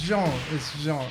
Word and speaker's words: Jean: Sorry, it's Jean. Yeah, sorry. Like Jean-Michel. It's like Jean-Michel Jarre.